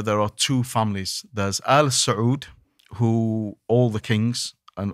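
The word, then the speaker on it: آل: but this is Al so it's a long a long yeah so that's the difference so Al the family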